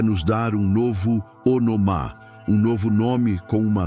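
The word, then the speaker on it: ὄνομα: Para aprofundarmos neste conceito de autoridade, precisamos conhecer a palavra grega para nome, que é onoma, se pronuncia onomá.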